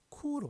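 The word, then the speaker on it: 圣: 마음심 옆에 힘써 바깔 골, 골자가 중국어로는 쿠로 발음된다죠.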